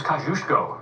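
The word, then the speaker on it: Kosciuszko: The smallest national park service site is a 002 acre Philly National Memorial named for this Polishborn man and rhyming with Mus Go. Brad, who is Kajushko?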